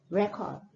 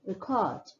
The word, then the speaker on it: record: The first one, the stress is more on the first syllable, record, record. And the second one, record, record.